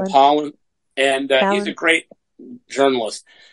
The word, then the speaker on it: Pollan: It's not Palin, but it's Michael Pollan.